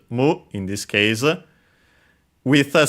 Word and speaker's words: む: Then we have the number six followed by the uh general purpose counter to and so we have to use the uh strictly Japanese pronunciation of six which is mu in this case with